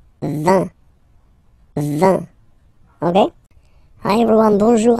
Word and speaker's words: vin: So you get V, V, and then you get nasal, I-N, un, vin, vin, vin, okay?